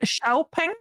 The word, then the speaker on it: Xiaopeng: Xiaopeng? Xiaopeng, yes. You pronounce it?